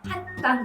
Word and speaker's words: 한강: 그래서 한강 역시도 혀가 천장에 닿는다는 걸 기억해 두세요. 천천히 발음해 보실까요? 한강. 니은 발음을 똑똑하게 해주시는 거죠. 그런데 보통 귀찮으니까 한강합니다. 뒤쪽에 강에 이음 발음이 있기 때문에 미리 한강 똑같이 이음 발음을 하는 거예요. 한강. 이런 식으로 한강에 놀러 갈까가 아니라 한강에 놀러 갈까? 이렇게 발음하시면 조금 더 깨끗하게 들립니다.